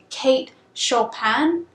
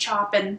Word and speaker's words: Kate Chopin: So her name is pronounced Kate Chopin, and I pronounced Chopin throughout the whole thing. In my defense, the English teacher I had the first time I read this book pronounced it Chopin the entire time I had her, and so